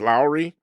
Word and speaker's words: Loury: My name is Lowry spelled L O U R Y but pronounced as if it were L O W E R Y and uh I gather